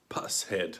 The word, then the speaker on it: Pushead: Pusshead, I think it's correct pronunciation.